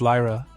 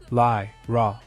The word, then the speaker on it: Lyra: in tone he says it's Lyra and then pronounced it more slowly lie raw completely dumb struck her